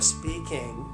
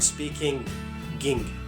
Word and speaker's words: speaking: But this G sound generally is not pronounced whenever we speak fast. But if we are speaking slow, we pronounce it this way. I'm speaking. We never say I'm speaking ging.